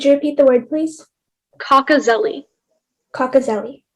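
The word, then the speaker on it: cocozelle: information please sure so the word is cockazelli that's the only pronunciation it's a noun it's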